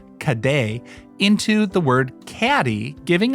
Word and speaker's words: cadet: The Scottish locals eventually altered the French pronunciation of cadets, which they would have called "caday", into the word caddy, giving us the term we still use today.